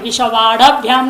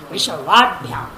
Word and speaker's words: विश्ववाड्भ्याम: हम आप बोलते थोड़ा उच्चारण में विश्ववाढ़भ्याम नहीं, विश्ववाढ़भ्याम वाढ़भ्याम ड हल है, ड में अ नहीं है, विश्ववाढ़भ्याम ऐसा नहीं उच्चारण होगा, विश्ववाढ़भ्याम। हल पर ध्यान रखने का है।